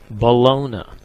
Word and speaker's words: bologna: good bologna sandwich but much better when pronounced just like that ballona and the 2-1 pitch